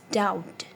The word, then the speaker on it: doubt: It's doubt. Doubt. B is silent.